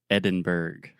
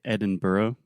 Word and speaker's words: Edinburgh: immoralized like this well technically I would say Edinburgh Edinburgh because it does have the burrow but I most of the time I hear Americans simply say Edinburgh just to be a little shorter um but yeah why